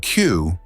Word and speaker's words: queue: The word Q, pronounced just like the letter Q, is a fascinating example of how language evolves. Even if you drop its last four letters, U-E-U-E, it still sounds the same.